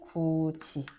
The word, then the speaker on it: 굳이: 구지 이뿐만 아니라 벼 훌 이도 마찬가지로 발음할 때 벼홀티라고 하지 않고 벼울치 벼울 치